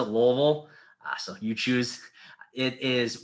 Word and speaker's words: Louisville: university university your city you can say louisville the locals pronounce it louisville so you choose it